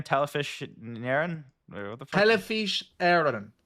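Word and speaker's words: Telefís Éireann: Telefish Aaron. Telefish Aaron.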